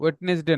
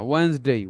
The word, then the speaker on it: Wednesday: টুয়েসডে, ওয়েডনেসডে, ওয়েডনেসডে না, ওয়েন্সডে, Weil's, ওয়েডনেসডে, ওয়েন্সডে।